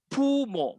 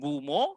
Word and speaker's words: 부모: Sama juga dengan pumo, kita sebut pumo, bukan bumo.